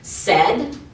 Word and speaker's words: said: especially the irregular ones like the word said. Said is s, but the e is spelled ai.